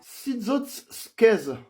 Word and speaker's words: Siczocskeș: saucisson brioché, et que la prononciation de ce mot, c'était littéralement Sitsotsquez.